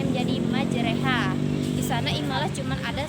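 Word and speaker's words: مجراها: usaha di sana dari kata madzhab jadi ibu bacanya menjadi majreha bisa naik malah cuma ada satu di dalam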